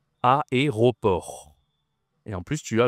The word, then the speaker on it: aéroport: Tu as deux voyelles ici, c'est difficile à prononcer. Aéroport.